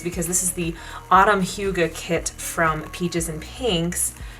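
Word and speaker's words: hygge: things we need process is how do you pronounce the word h y g g e let's find out Huga okay that's why I didn't say it and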